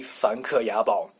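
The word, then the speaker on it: 梵克雅宝: But anyway, in Chinese, I'm confident of my Chinese pronunciation. So it is 凡客雅宝，凡客雅宝. All the influencers must have a 凡客雅宝 jewelry.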